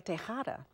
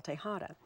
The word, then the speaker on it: Tejada: And at that time, I was Raquel Tejada. Of course, I didn't say it like that with a Spanish accent, but Raquel Tejada.